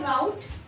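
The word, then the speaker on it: route: Cafe cafe ई नहीं ए why this is रूट और राउट तो रूट यूएस में है।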